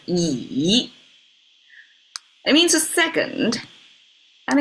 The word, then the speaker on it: 乙: And it actually pronounced almost like a Z. It's yi.